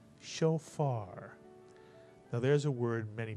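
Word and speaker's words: שופר: Kats under the Fay first syllable would be show and the second syllable would be far put the word together and you get shofar now there's a word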